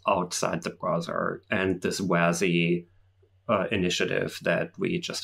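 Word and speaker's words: WASI: this new exciting thing wazzy is that how you pronounce that yes yeah wazzy yeah web assembly uh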